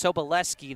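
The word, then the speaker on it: Sobolewski: back to the Lions a correction on the pronunciation of the coach's name for Brookline it's soboleski the W is silent thank you long serve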